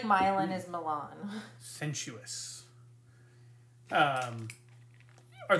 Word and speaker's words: Milan: laugh at you CU in Michigan it's pronounced milin um and there's a